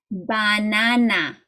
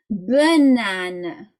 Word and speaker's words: banana: the last a a because if you read it like you would in German then it would go like this banana that's not how you say it in English in English you say banana okay banana so you